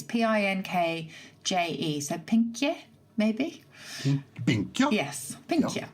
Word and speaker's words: pinkje: I'm not sure I'm going to pronounce this properly. It's Pinkje, so pinkje, maybe.